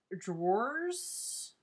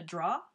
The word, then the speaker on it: drawer: my room was my drawers which people down here call it a draw draw in your draw it's d r a w e r drawer maybe I don't say it properly but it's a drawer